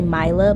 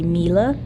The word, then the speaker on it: Mila: I might pronounce wrong like Mila it might say I think it might say Milo but I want to say Mila so that is a